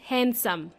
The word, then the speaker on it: handsome: when we say hands the letter D in this word is silent yes there is a letter D okay it's silent so we pronounce handsome and by the way